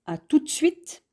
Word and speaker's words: à tout de suite: À tout de suite, qui se prononce plutôt à tout de suite, indique qu'on va revoir